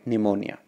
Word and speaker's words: pneumonia: it is very important because pneumonia starts with the word p letter p but it doesn't uh there in the pronunciation so you have to call it pneumonia but i am afraid